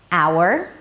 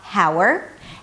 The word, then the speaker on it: hour: 'hour': it's not 'ha-w'r'. And yes, it sounds just like 'our', as in 'our company'.